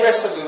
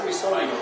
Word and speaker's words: Resolume: Because like the makers say Resolume. I say Risolium.